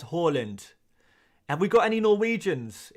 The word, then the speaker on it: Haaland: this so much but why do I pronounce Harland as Holland and we've got any